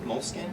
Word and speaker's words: Moleskine: Moleskine? You guys know how you pronounce it?